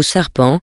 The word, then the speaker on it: sarpent: que sous le nom du serpent ou plutôt serpent car ainsi prononce on par là le serpent avait une